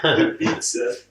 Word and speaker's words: Ibiza: I can't even deal with the fact that she said we're going to Ibiza. Well, that's how they pronounce it here. Ibiza.